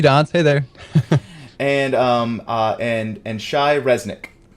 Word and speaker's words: Shai Reznik: there and and and Shai Resnick good you pronounce it correctly excellent nice look all